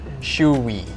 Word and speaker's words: shoey: up with like he's like let's make a shoy wall so if anybody wants to do a